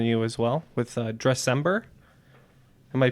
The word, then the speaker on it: Dressember: cause in front of you as well with Dressember. Am I pronouncing that right?